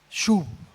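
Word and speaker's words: שׁוּב: La palabra es shub.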